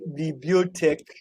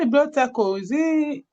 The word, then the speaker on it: bibliothèque: called bibliothèque. Bibliothèque. Bibliothèque. Now the bibliothèque is spelled B-I P-I B-L-I B-L-I O O T-H.